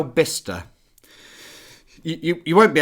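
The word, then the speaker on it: Bicester: Oh, actually I went to Bister Bister or Bice. I don't think that's how you say it. No, but some people do. Alan, I've never heard anyone say, "I've been to Bice Village." I think those people are wrong.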